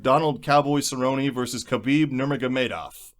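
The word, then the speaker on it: Nurmagomedov: cowboy Cerrone versus kabib nurmagamedov you said it right nice oh yeah I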